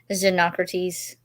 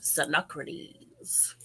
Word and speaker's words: Xenocrates: Xenocrates. I think that's how the audiobook pronounced it. Yeah. Xenocrates.